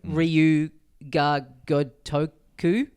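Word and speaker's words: Ryū ga Gotoku: bag and a pin of the studio logo, Ryu Ga Gotoku. Like a dragon. I've butchered that.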